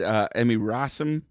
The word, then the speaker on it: Emmy Rossum: He dated Emmy Rossum. Is that how you pronounce it?